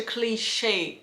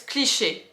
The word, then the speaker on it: cliché: So when I pronounce like that, it's more in the American English way, like such a cliché, a cliché. So I very emphasize a little bit on the second part of the word. If you pronounce in French, it's cliché. Cliché. There's no we don't really emphasize into the word, so cliché like that.